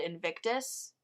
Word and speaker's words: Invictus: William Ernest Hensley and this poem is called Invictus right that's how you say it yes and